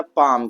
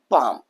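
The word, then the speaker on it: palm: जब भी एल जब भी एल कहां आए? एम से पहले आए। एम से पहले आए तो वहां पर हमारा एल क्या होता है? साइलेंट होता है। तो वहां पर हम क्या पढ़ेंगे भैया? पाम। क्या पढ़ेंगे? पाम। क्या पढ़ेंगे? पाम। आ यहां पर देखिए एल कहां आ रहा है?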